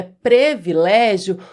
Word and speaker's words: privilégio: Muita gente acha que o correto é privilégio porque existem palavras, muitas palavras em língua portuguesa são escritas com e nós pronunciamos i. Mas não é o caso de privilégio. Privilégio se escreve com i mesmo. E nós devemos pronunciar da forma como escrevemos. Privilégio é a forma correta.